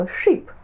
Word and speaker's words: ship: перекладемо як корабель Шип але важливо вимовляти його коротко Ship тому що в нас